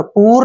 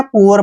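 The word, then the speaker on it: poor: उसको clear next word P double O आर देखिए इसका उच्चारण कैसे करना है इसको पढ़ते हैं हम पूवर क्या पढ़ते हैं पूवर पूर नहीं पढ़ना है पुअर पढ़ना है पुअर पुअर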